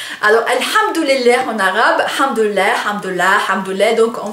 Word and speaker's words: hamdoulilah: Donc, en fait, c'est un mot assez drôle parce que on le prononce avec une lettre, avec un son qui n'est pas, qui n'existe pas en français, donc le ha, hein, ha, ça vient de la gorge, et ça fait quand